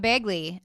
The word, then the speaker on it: Begley: Begley. Did I say it right? Yep, Begley, from SNY.